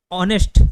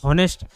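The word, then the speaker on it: honest: और ऑनेस्ट होता है ना कि हॉनेस्ट, ऑनेस्ट होता है, ठीक है, HONES, H साइलेंट होता है, हावर में भी H साइलेंट होता है।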